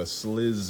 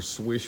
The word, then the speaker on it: Slysz: little video right quick a slizz video or swish video or slice video however you want to pronounce it I think it's actually swish but I don't really